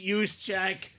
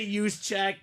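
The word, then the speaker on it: Juszczyk: no I'm too nice it's use check you got to say use check cuz he's reading the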